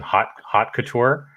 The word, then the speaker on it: Hot Couture: But before SNOWE, it looks like you launched something called, and you can correct my pronunciation, Hot Couture.